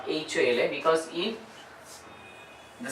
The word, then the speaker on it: hola: Olaf is wave Okay so hola is silent h is silent next Kota like cup